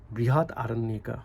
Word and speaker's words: Brihadaranyaka: So in this sense, compared to Gaudapada's Karika and the Brihadakaranya, Brihadaranyaka Upanishad and Chandogya Upanishad, Brihat Aranyaka. I mean, this is how it should be pronounced.